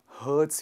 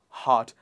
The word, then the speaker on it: heart: with hurt when somebody hurts your feeling it is not hurt it is hot one more time heart there's a long ah sound in it heart next one is it